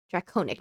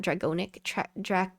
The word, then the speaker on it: Draconic: Draconic, not Dragonic. Draconic.